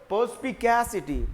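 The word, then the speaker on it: perspicacity: पर्सपिकैसिटी एंड पर्सपिक्यूटी दोनों की pronunciation भी अलग है। इसको कैसे पढ़ते हो, पर्सपिकैसिटी, पर्सपिकैसिटी। इसको क्या पढ़ते हो, पर्सपिक्यूटी, पर्सपिक्यूटी।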